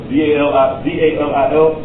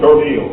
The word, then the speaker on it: dalil: This is a long E sound. Dalil. Some people say, what's your dalil, brother?